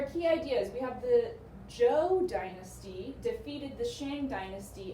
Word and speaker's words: Zhou: You're thinking, oh, you read that wrong, that's Zhao. It looks like Zhao, but when we get into the text itself, we see it's pronounced Zhou.